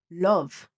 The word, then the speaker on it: love: money, love, company, front, cover, London. Yes, all of these words contain the same sound as in up. We would never pronounce the word up or but somehow we would pronounce the word love. Love and it's the same sound. How crazy is that?